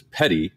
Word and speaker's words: petit: uh some french so it would be a petite waiver but that's not how we pronounce it in the south i know we pronounce it as petty yes we call it